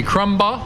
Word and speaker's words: Crumbaugh: to moonshining music we're here today with crumble hey Joe did I pronounce that right you got it right